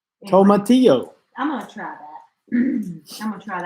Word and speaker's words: tomatillo: Tomatillo. Tomatillo.